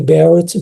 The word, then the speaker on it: Barrett: Falando sobre doença do refluxo, nós temos então o esôfago de Barrett, né? Ou esôfago de Barrett, que seria a pronúncia correta, porque isso foi descrito